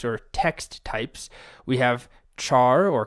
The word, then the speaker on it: char: We have char or car. I guess you should pronounce it car because it's character, but I've always said char, even if that's incorrect.